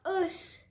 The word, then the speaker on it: os: généralement pas au pluriel on dira des œufs des beurs des os cela vient d'une tendance issue de l'ancien français qui consistait à ne pas prononcer la consonne finale avant le s au pluriel